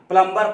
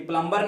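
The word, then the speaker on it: plumber: आते हैं तो उसका साइलेंट लेटर्स नहीं पड़ते हैं जिसके चलते रहना प्लंबर पड़ जाते हैं प्लंबर पड़ जाते हैं लेकिन प्लंबर नहीं होता है मैं विद्यार्थियों को बताना चाहता हूं इस वीडियो के माध्यम से कि प्लंबर नहीं होता है प्लंबर होता है याद रखना बेटा बिल्कुल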